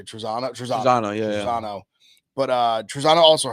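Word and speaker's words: Trizano: Trezano, yeah.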